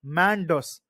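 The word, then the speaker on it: Mandous: United Arab Emirates and is pronounced at Mandos it means treasure box in Arabic so Cyclone mandus is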